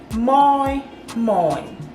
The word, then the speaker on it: moi moi: that sound to you moy moy it is spelled just as it is pronounced m or i m